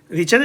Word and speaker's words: Richter: Okay, रिचर रिक्टर जो भी आप बोलो, प्रोनाउंसिएट करो, दोनों ठीक है, बट क्वेश्चन आपका सही होना चाहिए.